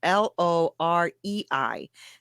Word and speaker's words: Lorei: the last name is Lorei. That's how you say it's Lorei, but that's how you spell it.